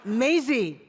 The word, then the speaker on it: Mazie: pronounce my last name and then he basically butchered my first name. It's Maisie.